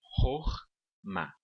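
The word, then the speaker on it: חכמה: Então, nesse caso aqui, nós temos duas sílabas. Hor-ma significa sabedoria.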